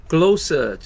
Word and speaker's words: Glowsuds: That's glowsuds. That's how it's pronounced.